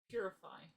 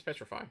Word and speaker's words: Petrify: Purify. Right? No, it's Petrify. Oh, Petrify. Petrify. I said Putrefy, I'm sorry.